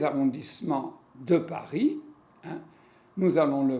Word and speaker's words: arrondissement: alors vous faites attention il faut dire arrondissement et pas arrondisement 1 2s on dit est ce